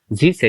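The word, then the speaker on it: zsh: you may have zrc Zs H cell actually Z cell usually it is pronounced so the path will be um you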